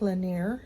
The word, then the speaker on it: Lanier: are leaving Margaritaville in Lake Lanier is the way to pronounce it and we're heading to